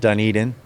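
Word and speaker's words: Dunedin: I grew open it's called dun Eden which that's how you say it which is everyone says dunen so but yeah uh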